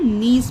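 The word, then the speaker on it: niece: जो हमारा रिलेशन होता है भतीजी या भांजी का उसे हम नीस पढ़ते हैं।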